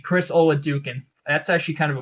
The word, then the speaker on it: Oladokun: Chris Oladokun, I think is how you, or Oladokun, Chris Oladokun.